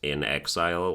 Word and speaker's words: inXile: Inxile, which is spelled INXILE, so probably pronounced in exile, like a gamer tag